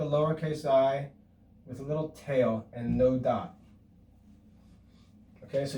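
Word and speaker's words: θῆτα: But really, to be more perfect, the theta is actually pronounced like the th in Thomas. Thomas. It's the sound of the letter T with some breath. But if you pronounce it with the English th like thin, that's fine. Okay, and most students actually do that. But no, a more perfect pronunciation would be ta.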